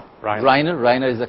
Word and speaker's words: Reiner: Is that how I pronounce it, Reiner? Reiner.